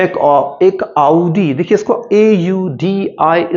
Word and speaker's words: Audi: होता कि मैं एक आउडी, देखिए इसको AUDI, इसको हम आउडी प्रोनाउंस करते हैं, कुछ और नहीं।